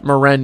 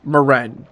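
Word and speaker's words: Maren: Moren is how you say his name. It is Moren.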